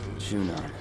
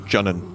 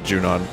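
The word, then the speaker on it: Junon: headed to is that junan Shinra territory come on I thought it was pronounced junun when I was younger also Johnny Greenwood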